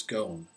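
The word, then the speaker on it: Ghosn: the name of Carlos gone Carlos gone and gone is spelled g hosn GN Carlos gone and he went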